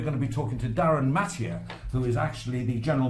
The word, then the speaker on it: Darryn Mathee: And we've got a gentleman here who knows all about it, Darryn Mathee. Did I pronounce that?